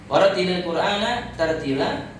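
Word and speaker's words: وَرَتِّلِ الْقُرْآنَ تَرْتِيلًا: Warattilil Qur'ana tartila, jangan gitu bacanya. Warattilil Qur'ana tartila.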